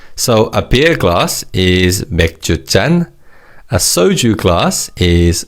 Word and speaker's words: 맥주잔: the different sounds, but with 맥주 and soju, 잔 is pronounced as 짠 because of the 치읓 in the preceding syllable 주. However, with wine, 잔 is just pronounced as 잔. So it's 맥주잔, 소주잔, and 와인잔.